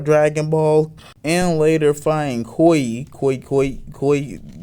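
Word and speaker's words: Cui: ball and later finding koi koi koi think his name is koi that's how you pronounce it coy and killing him with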